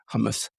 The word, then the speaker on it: Hormuz: to Dubai, and flew over the Strait of Hormuz, how do you pronounce it correctly? Hormuz.